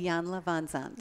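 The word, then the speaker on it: Iyanla Vanzant: Iyanla Van Zandt.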